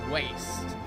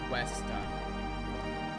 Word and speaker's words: Westa: I thought it said waste for her name. Like, you are a waste. And I was like, no. That can't be how it's pronounced. But it's Westa.